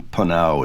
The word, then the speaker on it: PNAU: pronunciation they're going with. So, I'm going to start calling them P instead of Po.